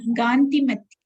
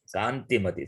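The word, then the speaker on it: कान्तिमती: They say Gandhimati, Gandhimati. What Gandhi? Rahul Gandhi or Rajiv Gandhi? It is Kanti. Attraction. Kanti, Samskrita word. But now our people, now they Gandhimati, Gandhimati. They are not Gandhi. Kanti. Kanti. Vashakanto, attraction. Kantimati. Similarly, they say Kabali, Kabali, not Kabali.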